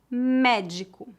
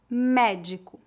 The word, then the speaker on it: médico: a pronúncia é fechada se a letra e tiver um acento agudo a pronúncia é aberta vamos ver alguns exemplos